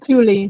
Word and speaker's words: Thule: It's Thule, yeah.